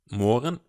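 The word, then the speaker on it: morgen: good morning good morning Morgan um it's a it's a bit odd one out and the g is silent I'm Cultura what's your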